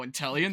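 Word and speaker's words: Inteleon: the help intellion oh intellion that's how it's pronounced tan but the Pokemon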